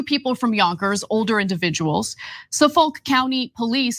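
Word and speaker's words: Suffolk: you know two people from Yonkers older individuals saulk County Police say 44 year-old Steven Brown It's actually pronounced suffk not saulk but yeah 44y old Steven Brown 38y old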